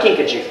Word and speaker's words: kinkajou: Our next animal is called a kinkajou. Now, I did not say a Pikachu. I said a kinkajou.